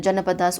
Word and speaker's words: Janapadas: So this age of this Mahajanpads and Janpads, okay, this word, or you can pronounce as Janapadas also, okay, it is same.